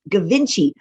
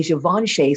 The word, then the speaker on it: Givenchy: We didn't know how to pronounce it, so we said Gavinci. Even when I say the word Gavinci, I feel like I'm making a face, right? So try it yourself, Gavinci.